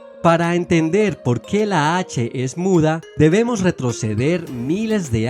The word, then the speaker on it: heth: en usar esta letra la cual se llamaba he y la pronunciaban como una jota aspirada Algo similar al sonido que hacemos cuando limpiamos las gafas con una bocanada de aire luego los griegos la